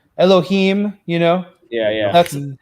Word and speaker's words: Elohim: s for us and it's pronounced IM like cherubim and Ne Nephilim Elohim you know yeah yeah